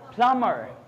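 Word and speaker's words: plumber: बट was that voice, that is called प्लमर। यहाँ पर B pronounce नहीं होता, यहाँ बी प्रोनाउंस नहीं होता। Gate my point? प्लमर लिखते प्लम्बर हैं, पढ़ेंगे क्या? प्लमर पढ़ेंगे क्या?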